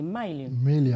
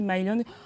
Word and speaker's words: Maïlion: Je crois qu'on dit Maïlion. Maïlion. Ah ouais, voilà, pour bien le prononcer, Maïlion.